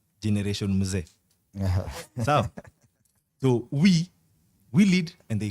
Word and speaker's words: Mzee: You know, so this is a fight between Gen Z and Gen Z with a silent M, Generation Mzee.